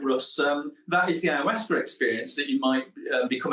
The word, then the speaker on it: Ayahuasca: You pronounce it perfectly, by the way. Ayahuasca.